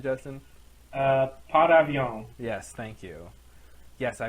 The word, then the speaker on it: Par Avion: a particularly interesting episode with uh episode 312 par Avon or uh what's the French pronunciation Justin uh pavon yes thank you yes I would like a